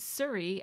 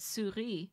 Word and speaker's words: Souris: So I decided to spell out Souris as it is pronounced, like Surrey. And then I'm going to cross that off and then put Souris below, spelled the proper